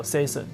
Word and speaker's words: SESN: 牌上面，所以它英文上正式发音是叫 Season，对，它其实就是从 Season 这边过来的。